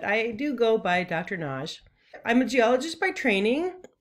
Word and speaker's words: Nagy: It's spelled N-A-G-Y and often people say Nagy. I pronounce it the Hungarian way, which is with a single syllable, Naj.